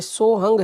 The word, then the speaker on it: सोहं: और कई व्यक्ति बोलते हैं कि ये सोहंग है या सोहम है, तो हंस का उल्टा सोहंग होता है, ये सोहंग है। बीच में एक ऐसा होता है वो साइलेंट होता है, सोहंग होता है।